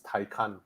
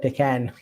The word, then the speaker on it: Taycan: The Porsche pronunciation is Taycan. Taycan. Right. Americans I call it Taken.